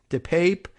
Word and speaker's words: DePape: does Paul Pelosi's assailant pronounce his name as Dupop? Or Depop rather than Depape. I don't know. I was wondering whether they might have anglicized it over the years. And he says Depape, but it should be Depop.